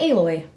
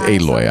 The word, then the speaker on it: Aloy: I wanted to talk about AI Aloy. Oh, it's Aloy. I mispronounced it.